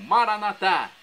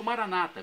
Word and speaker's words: Maranatá: E agora do aramaico, dialeto de Jesus, eu clamo, Maranatá, como dizemos nós católicos, ou Maranata, como dizem nossos irmãos separados, os evangélicos ou protestantes, não importa a pronúncia, o significado é o mesmo.